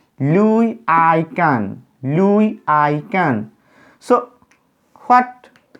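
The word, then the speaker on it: Louis Kahn: it is a name the name is pronounced like louis i can louis i can so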